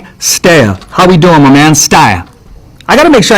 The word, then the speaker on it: Stea: I don't think I've ever heard her say it, but it's pronounced Stea. Stea. Stea, like Stea. Like stay away, or like stay away.